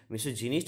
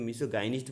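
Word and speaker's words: misogynist: তো হ্যাট্রিড of marriage বিবাহ ঘৃণা করা, আর মিসোগাইনিস্ট, মিসোজিনিস্ট হওয়া উচিত, কিন্তু মিসোগাইনিস্ট বলবো যেহেতু আমরা গাইনো গাইনো উচ্চারণ করি।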